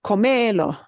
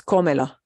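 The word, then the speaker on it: cómelo: breaks the rule right it's not comedo it's comella eat it and because we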